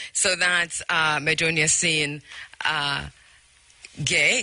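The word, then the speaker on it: Gueye: Gay, the name is pronounced Gay, but it's spelled G-U-E-Y-E.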